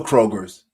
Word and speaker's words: Kroger: for 40 plus years it's Kroger not Kroger just one it's one but I